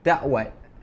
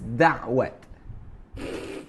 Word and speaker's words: dakwat: I pronounced the word dakwat as da'wat. So guess, Sarah, which language has I been influenced when I pronounce the word da'wat? Da'wat. Arabic. Yes, Arabic. Because I get influenced or I got influenced?